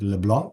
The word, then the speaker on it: LeBlanc: medical community and today I'm talking with Leblon is that correct pronunciation it's perfect yes so I have to